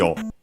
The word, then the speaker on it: を: low, machi o, machi o, machi o. Particle which is o, written as wo and pronounced as such in careful speech and also singing, and yeah, it's the object particle.